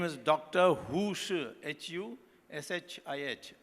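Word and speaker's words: Hu Shih: Hu Shi, H-U-S-H-I-H. Shi is pronounced spelled that way, I don't know why.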